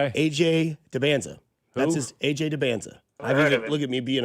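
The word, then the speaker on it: AJ Dybantsa: That's his AJ Debanza.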